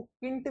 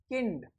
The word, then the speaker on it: Kind: इसको किंट भी बोला जाता है, कै। आई का देखो ई, तो क्या हो गया की, एन का न, और डी का टे, किंट या किंड।